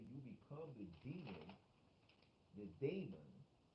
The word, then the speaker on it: daemon: Or even you become the demon, the daemon. Some people would pronounce demon daemon in our sense, and they interchange it, intertwine it.